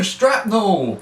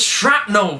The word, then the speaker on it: shrapnel: at the beginning then oh no strap no it's shrapnel strap no and the